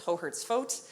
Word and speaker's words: Hohertz-Foat: that even my own family has problems it's hohertz vote uh so everyone just calls me i